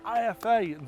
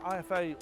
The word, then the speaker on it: IFA: That building there is Messe Berlin, or Messe Berlin, however you want to pronounce it. It means I'm back at IFA this year for 2025 to take a look at the latest and greatest technology.